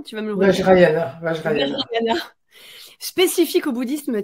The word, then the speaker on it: Vajrayana: Il nous fait découvrir l'intérieur du Vajrayana, si je le prononce bien, tu vas me le redire. Vajrayana, Vajrayana.